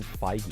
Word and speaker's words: Feige: and DC franchises do he's the new Kevin Fage but also he just does everything um not